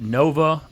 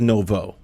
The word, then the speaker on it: Novo: So we've got Tony Castronovo on, and he is the founder of Nova Multifamily Group. I think it's Novo. Novo? Yes. And when you're Italian, you got to pronounce the O pretty hard.